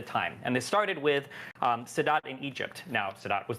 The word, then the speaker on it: Sadat: Am I pronouncing Sadat? Anwar Sadat? Sadat. Oh, I thought said Saddam.